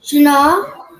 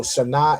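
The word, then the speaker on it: שנה: Shana. Shana. Well done. Right. So Shana is how you say year in Hebrew.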